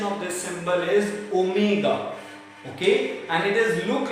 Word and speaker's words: omega: The pronunciation of this symbol is omega.